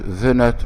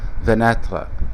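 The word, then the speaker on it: fenêtre: فمن كلمة مثلا نافذة او شباك ما انطقهاش فينتر، فينتر، لا فيناتر، فيناتر، اطلت نطق الحرف.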